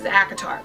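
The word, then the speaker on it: ACOTAR: even say right now you can't say a court of thorn and Roses so many times in a video so it's acatar okay in this world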